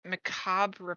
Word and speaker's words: macabre: it it describes this macabre process it's written in infernal you don't pronounce the r on that one macabre